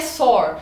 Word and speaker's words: SOAR: A palavra SOR, na verdade a pronúncia é uma palavra em inglês, então a pronúncia é SOAR e escreve soar.